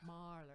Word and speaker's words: Mahler: My girlfriend has suggested that I listen to Mahler. So I'm listening. Mahler? Mahler. Mahler.